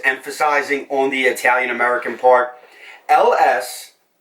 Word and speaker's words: Ellesse: on the italian-american part LS as many people have mispronounced over the years and butchered as a lease or Alesi a it is LS and it's it's actually